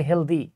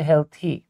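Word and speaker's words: healthy: আমরা অনেকে এটাকে উচ্চারণ করি হেলদি। এটা হেলদি না কিন্তু। উচ্চারণ হচ্ছে হেলথি।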